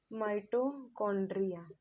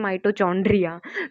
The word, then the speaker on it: mitochondria: ध्यान से देखना बच्चों, ये माइटोकॉन्ड्रिया है, सीएच को हम च जैसे प्रोनाउंस नहीं करेंगे। कई बच्चे से बोलते हैं माइटोचॉन्ड्रिया, तो वो गलत होगा, ये माइटोकॉन्ड्रिया जैसे ही हम प्रोनाउंस करेंगे, ठीक है।